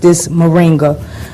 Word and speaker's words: moringa: John, how did you happen to come up, find this moringa? Well, am I saying it right? You're saying it right, moringa.